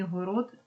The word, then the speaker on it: город: робить його дзвінки і город він також є в кінці слова не оглошується Ведмідь Звук д є